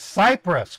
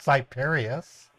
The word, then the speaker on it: Cyprus: is a goad cyp it's Cyprus Credit Union not cyperus where did you get that name hus right you said cyperus that's not how you pronounce it um this thing is